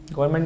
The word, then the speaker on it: government: ठीक है, सब लोग बताओ गवर्नमेंट की स्पेलिंग ठीक है? GOVERMENT गवर्नमेंट है ना? GOVERNMENT, ये एन तो इंग्लिश एन का ही बोला, एन का उच्चारण नहीं हो पाता, ये इंग्लिश है।